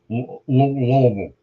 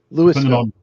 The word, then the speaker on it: Louisville: So I had Virginia, and you had Louisville. Louisville. Depending on where you live is how you pronounce it.